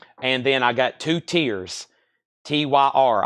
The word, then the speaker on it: Tyr: then I got two tiers tyr I've always said tier um unless somebody has a different pronunciation these include lyric inserts